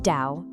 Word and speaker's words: 道: They called it the Tao. It's pronounced Dao, and it literally means the way.